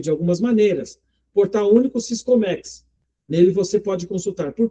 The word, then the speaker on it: Siscomex: Não tem acento, né? Então é Siscomex.